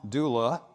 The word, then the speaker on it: Dula: Tom Dooley was the story of a real murder that took place in 1868, where Tom Dula, D-U-L-A, pronounced Dooley in the mountains, came back from the Civil War, got himself more than one girlfriend, and then handled it badly.